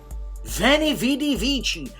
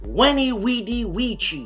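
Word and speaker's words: veni vidi vici: flames war in europe vani vidi vici which is not pronounced that way it's when he weedy ouija yeah you don't believe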